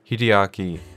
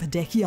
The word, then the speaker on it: Hideaki: us a brief introduction to Evangelion directed by Hideaki the brainchild of Hideki I know I know I know look I'm